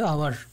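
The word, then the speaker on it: hour: তো এর আগে আমরা আলোচনা করছি আওয়ার, এখানে এইচ কনসোনেন্ট সাউন্ড থাকলেও এর উচ্চারণ হচ্ছে আওয়ার, আমরা হাওয়ার উচ্চারণ করি না আওয়ার।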